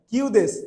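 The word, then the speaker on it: 九: নানাদেসকা এখানে দেখেন ইংরেজিতে নাইন এবং সেভেন যার উচ্চারণটা হচ্ছে জাপানি যদি করি এটাকে কিউ বলা হয় আর সাত কে মানে সেভেন কে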